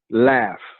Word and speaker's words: laughs: word laughs la ugh since when does the GH have the sound F Y is GH pronouncing F laughs so when you're going